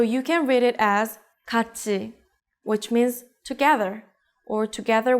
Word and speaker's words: 같이: If you read it as 같이, think about it once again.